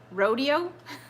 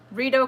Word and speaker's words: Rideau: forget what I said Rito Rito rodeo I should get a point just knowing a river in Quebec but we're not in Quebec it's in Ontario bottle caps you're still anti Quebec today burrito Rideau Canal Thank You Evelyn I've